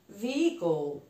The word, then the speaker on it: vehicle: Vehicle.